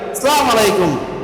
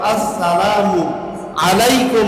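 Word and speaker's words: السلام عليكم: অনেকেই কয় আসসালামু আলাইকুম। আসালামু আলাইকুম। এভাবে সালাম দিতে হয় না। সালামের শুরুতে প্রথমেই হামজা আছে। আ হামজা জবর আ। এই হামজা জবর আ ঠিকভাবে উচ্চারণ করতে হবে।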